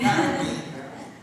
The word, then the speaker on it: Garbin: Ou pronunciar Garbão, também tem isso. Você é Garbim ou Garbão? Garbim.